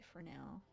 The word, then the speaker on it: Fresnel: Well, first of all, the S is silent because you write it Fresnel. You don't say that. You say Fresnel.